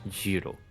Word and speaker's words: Gyro: But I think his name's Gyro. just Sandwich. Gyro. Euro. It's not pronounced like gyro, though. That's how it's spelled, but it's not how it's pronounced. Euro.